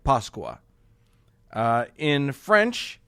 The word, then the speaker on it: Pasqua: So in Spanish, Italian, and Portuguese, for example, it's spelled differently, but all pronounced something like Pasqua.